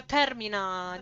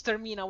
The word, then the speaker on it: Termina: It it's very Italian pronunciation because in Italian we do have a word that means end in Italian.